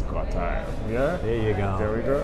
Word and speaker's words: Gottheil: He pronounces it as Gottheil, right? I say Gottheil, so let me correct it. It's Gottheil.